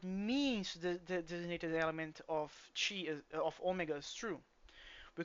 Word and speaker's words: chi: Well, there are two pronunciations actually. Yeah. Chi.